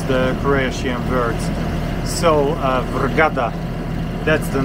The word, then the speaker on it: Vrgada: and not so gusty we are heading to vergada uh gada sometimes it's a bit difficult to pronounce the qurayshian words so vergada that's the name of the island uh we